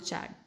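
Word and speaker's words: Chad: I don't know how to pronounce it. I pronounce it चैड.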